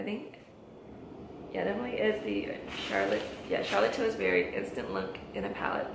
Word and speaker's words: Charlotte Tilbury: Okay, I'm like putting S in her name, and there's no S. Charlotte Tilbury.